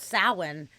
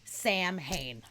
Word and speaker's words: Samhain: That motherfucker said Sam Hain, which is that's how it looks like it's pronounced. But anybody that knows anything about this in any way, you don't pronounce it Sam Hain. It's fucking Samhain.